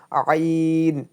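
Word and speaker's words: عين: pressure দিয়ে উচ্চারণ করতে হবে এবং আপনি কিভাবে উচ্চারণ করবেন এখানে কিন্তু দেখা দিছে প্রেসার দিয়ে আইন আইন আইন আইন সুতরাং আপনাকে প্রাকটিস করতে হবে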